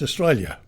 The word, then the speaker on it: Australia: there's an alien there you've got to pronounce the yell you don't have to highlight it you just pronounce it put it there it's not meant to be highlighted another one the use